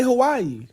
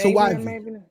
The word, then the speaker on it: Hawaii: No, a lot of people say Hawaii when it's not. That's not how you say it. It's Hawaii. It's Hawaii. I thought it's Hawaii. Yeah, because there's no W. The W makes the V sound.